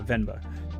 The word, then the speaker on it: Venba: And then for console and PC, we have Maquette and Venba. That's how you say it, right? Yeah, Venba.